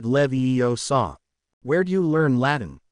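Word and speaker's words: Leviosa: hermion shook her head it looks like a lot of these words are from Latin that would make it levo saw where do you learn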